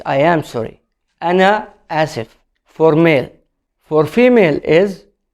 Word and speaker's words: آسف: Ana asif. It means I am sorry for male. What is the difference here? Is we put ana, I am. So it's not only sorry, it's I am sorry. Ana asif for male.